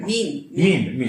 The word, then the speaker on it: meme: Meme. M-E-M-E. Yeah, I know. I pronounced it in my primitive Slavic. Our writing is much simpler. It's meant to rhyme with gene.